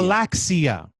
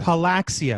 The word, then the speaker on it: Palaxia: Palaxia. Palaxia. Palaxia, because it rhymes with talaxia.